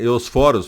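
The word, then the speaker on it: Ἑωσφόρος: Veja, os gregos chamavam essa estrela da manhã, né, de Eósforos. Na verdade, a pronúncia do grego moderno é Eosforos, porque o acento está no segundo O, né?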